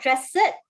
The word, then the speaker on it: dressed: Dress. Not dressed. Dressed. Dressed. Yes, dressed. Okay, with the T sound at the end.